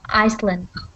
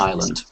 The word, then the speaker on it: island: see the pronunciation we're we've got a silent s with that word so just island islandand island not Iceland that's it yeah is